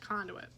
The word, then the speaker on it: conduit: just have the paper conduit that's how you say it conduit so we got to